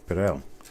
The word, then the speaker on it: Perel: Do you put the accent on the first or the second syllable of your first name there? Okay. Second, Perel.